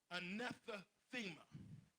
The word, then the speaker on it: anathema: Now, this I want you to write down, and I'm going to try my best to pronounce it. A-N, my wife is good at this. A-N-A-T-H-E-M-A. Anathema.